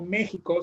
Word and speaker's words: México: digo que así como méxico se escribe con xy se pronuncia con jota próximo se escribe con